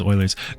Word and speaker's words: Euler: It's Eulers? Are you serious? You ready for this? Bang! Done. I've also always pronounced it as Oilers.